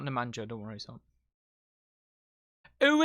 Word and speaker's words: Nemanja: you say nemanja that's how you say it nemanja with some legendary nemanjas on this team by